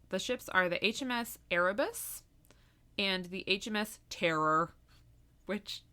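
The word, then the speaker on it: Erebus: e bu u s oh arabus arabus what did I say I heard aramus oh no arabus so Franklin was the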